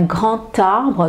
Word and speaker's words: grand arbre: D arbre et là je prononce, je ne sais pas si vous pouvez entendre, un grand arbre. Donc là, le D se prononce T.